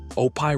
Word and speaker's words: Opie: Opie rhymes with dopey.